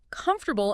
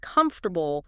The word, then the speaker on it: comfortable: I remember a student who always stressed the wrong syllable in comfortable instead of comfortable, small thing, but it sounded awkward.